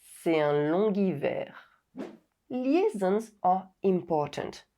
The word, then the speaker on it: long hiver: G is added when the liaison is made with the final silent consonant G. Long. C'est un longuivert. C'est un longuivert.